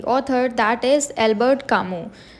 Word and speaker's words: Camus: author that is एल्बर्ट कामू तो इनका जो सरनेम है कामू इसमें एस जो है वह साइलेंट है इसीलिए अल्बर्ट कामू सो ही वाज अ